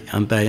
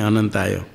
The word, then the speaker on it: अनंताय: अनंत में न को हाल कर देने का नियम है, अ जहाँ है उसको छोड़ के बोलना। अनंताय के न में अ को छोड़ दी क्या होगा? अंताय। नमस्त्वंताय, नमस्त्वंताय, अंताय नहीं अनंताय। तो ये उच्चारण करते समय